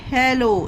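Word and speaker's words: hello: एच E double L ओ हेलो। इसे पढ़ते हैं गाइस। हेलो यहां पर एक एल साइलेंट होगा।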